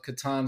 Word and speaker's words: Catan: I'm glad to hear you say Yeah, Catan because yeah. I mean, that's the right pronunciation.